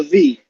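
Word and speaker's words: ב: So it's a B, but it's pronounced as a V, right?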